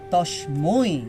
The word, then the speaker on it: তস্মৈ: লোকত্রয় লোকত্রয় উপকারায় উপকারায় লোকত্রয় লোকত্রয় উপকারায় উপকারায় তস্মৈ তস্মৈ এই উচ্চারণটা একটু ক্লিয়ার করতে হবে যেহেতু ঐকার আছে, হ্যাঁ, তস্মৈ।